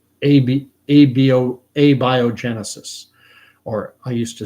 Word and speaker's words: abiogenesis: I've spoken about it before, and someone on here corrected me on my pronunciation. It's abiogenesis, or I used to say abio. I used to say abiogenesis. It's abiogenesis, and what it holds, abiogenesis holds that for